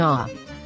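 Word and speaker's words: ה: important to know that the letter hey is pronounced as ha when it is positioned at the beginning or within a word however it is pronounced as ah when it is at the end of the word let's see the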